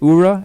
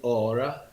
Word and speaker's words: Aura: you as well um you go by ura am i pronouncing that right it's actually aura you know i realized that in this country everybody will pronounce it ura so i guess i get to get used to that no well i don't